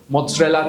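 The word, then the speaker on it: mozzarella: what is इट मोरेला so what is इट मोजरेला cheese मोजरेला cheese same goes for पिज सो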